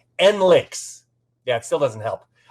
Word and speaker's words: NLiX: and members of the still super easy to pronounce n-l-i-x or as the kids are saying n-links yeah it still doesn't